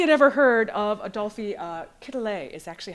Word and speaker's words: Quetelet: And so, how many had ever heard of Adolphe Quetelet is actually how you pronounce it?